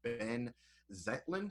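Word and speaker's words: Benh Zeitlin: It's directed by, I do believe you pronounce, Ben Zetlin.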